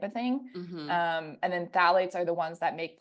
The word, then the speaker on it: phthalates: the P is silent in this one.